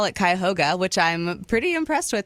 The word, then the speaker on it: Cuyahoga: It's in Cuyahoga Falls, Ohio.